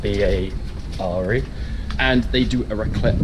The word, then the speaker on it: Bare: adventure we're going to bear grill pronounced ba re and they do a